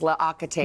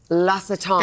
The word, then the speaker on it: L'Occitane: Let me pronounce this right in French. Oh, you could do it. L'Occitane. Yeah. I mean, I went years thinking it was L'Occitane. Me too. And but it's L'Occitane. That's right.